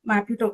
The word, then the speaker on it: Maputo: organization what is this uh basically protocol the maputo am I pronouncing it right Maputo protocol Which one?